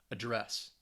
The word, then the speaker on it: address: go either way but as a verb it's definitely the the stress is going to be on that second syllable address to address someone thank